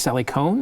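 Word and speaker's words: Sally Kohn: And he has me on with Sally, I think it's Sally Cohn. Is that how it's pronounced?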